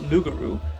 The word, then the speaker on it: loup-garou: When the Acadians were exiled from France, they brought the legend of the Loup-garou, pronounced Loup-garou, to Nova Scotia, and later on Louisiana.